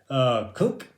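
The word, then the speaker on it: Kunc: Kunk, I think that's how you say his name, K-U-N-C, Kunk from Iowa State.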